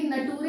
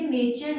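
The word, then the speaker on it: nature: तो टी के बाद अगर URE आ रहा है, या फिर ये नटूरे नहीं है, ये नेचर है, प्रकृति है, इसे TURE है तो इसे च की साउंड देंगे, राइट, चर बन जाएगा।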